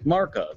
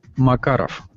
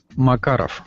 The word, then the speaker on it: Makarov: Russian designed pistol a marov or marov but it's actually supposed to be pronounced Makarov Makarov mar mar who usually